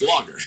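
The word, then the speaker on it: Laager: r l a a so it's not ler it's logger that's right but you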